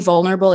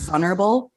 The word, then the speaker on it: vulnerable: And saying vulnerable improperly because nobody on the show knows how to pronounce it. Everybody just says vulnerable. And I just want to scream from the rooftops that there's an L in the word.